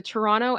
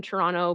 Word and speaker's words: Toronto: someone is native from Toronto based on the way that they say Toronto because if they're from Toronto they do not pronounce the second t for the most part um but if you